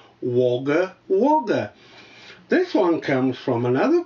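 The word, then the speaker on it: Wagga Wagga: for you de r i believe you are mispronouncing the name of your host tv station wager wager as an austral you should know that the pronunciation is woger woger this one comes from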